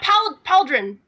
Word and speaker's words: pauldron: Yeah, Pauldron. On his Pauldron, it Pauldron. usually... Pauldron? Pauldron! Like, it's Yes! spelled like the name Paul. Paldron.